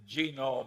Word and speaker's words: genome: mentioned that one but genome I have a hell of a time putting the accident on the first syllable but that is a